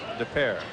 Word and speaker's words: Des Peres: And Mike is from Des Peres, Missouri. That's D E S P E R E S, Des Peres.